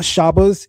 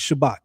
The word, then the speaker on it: Shabbat: The word is not Shabas, it's Shabbat. You're not saying that T on the N.